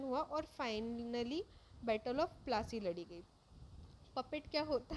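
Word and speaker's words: Plassey: प्लासी एक Anglicist pronunciation of पलाशी, एंड द प्लेस drive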